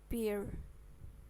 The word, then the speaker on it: beer: E ini dibaca I, jadi beer.